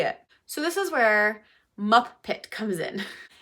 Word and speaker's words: MupPit: So, this is where Muppet comes in. It's Muppet like the Muppets. You know, a puppet Muppet, but it's spelled M U P I T.